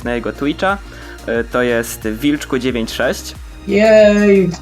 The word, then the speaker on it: Wilchq: To jest Wilczku96. Jej, pisze się przez CH, ale czyta się Wilczku.